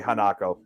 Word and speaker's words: Hanako: As with anything, it's Hanako. It's people's perspectives, isn't it? And their it's Hanako. That's how it's It's Hanako. That's how you say. That's how you pronounce it.